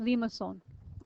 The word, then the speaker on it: limaçon: Anyway, it's pronounced Limaçon. It sounds at least the French pronunciation of it. Okay, and it rhymes with papillon. Okay, which is the French word for butterfly.